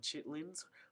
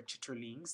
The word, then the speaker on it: chitterlings: Some interesting things like chitlins or chitterlings, depending on how you say it.